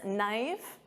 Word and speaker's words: knife: And of course, silent K on this knife.